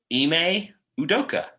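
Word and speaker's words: Ime Udoka: course the listeners were looking forward to me mispronouncing his name it's eeme udoka there we go see I got it right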